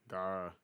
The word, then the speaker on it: Gawr: How do you pronounce what is this? Gawr, Gar. Gawr. Gar.